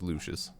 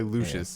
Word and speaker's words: Lucius: I haven't forgotten okay it is Lucius just I didn't want to say Lucius and look like a stupid idiot um I felt so